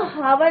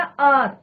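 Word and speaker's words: hour: पे बोलूं आर, तो ये इसको हावर नहीं बोलते हैं बच्चों, क्या बोलते हैं, प्रोनाउंसिएशन क्या है इसका, आर, तो साउंड किसका आ रहा है, ओ का साउंड आ रहा है, तो यहाँ पे क्या लिखेंगे हम, एन आर।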